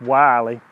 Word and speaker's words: Willie Jones: looks like it's spelled Willy but it's actually pronounced Wylie and it describes how he was born in